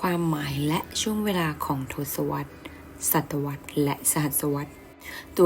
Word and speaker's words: ทศวรรษ: และ ช่วง เวลา ของ ทศวรรษ ศตวรรษ และ สหัสวรรษ ตัว ชี้ วัด รับ ช่วง เวลา เป็น ทศวรรษ ศตวรรษ และ ทศวรรษ อ่าน ว่า ทศวรรษ หมาย ถึง ช่วง เวลา